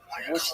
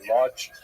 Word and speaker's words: Łódź: This was the case in Łódź, which is pronounced Łódź, but it's got an L at the beginning. A lot of people in America say Lodge.